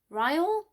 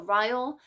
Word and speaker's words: Ryle: She meets Ryle. I think that's how his name is pronounced. I thought it would have been like Riley, or I don't know. So Ryle, and they have like naked truth.